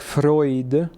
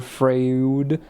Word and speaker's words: Freud: Ely, it's not fud or fraud. It's Freud.